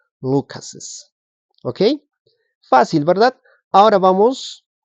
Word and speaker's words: Lucas's: Pero eso no implica que no tienes que pronunciar Carlos's. Igual tienes que pronunciar Carlos's, James's, Lucas's.